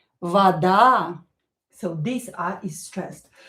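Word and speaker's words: вода: A is stressed in this word, so this o you pronounce as a, but do not emphasize it. Do not stress it. Do not pronounce this a longer. Vada. Vada.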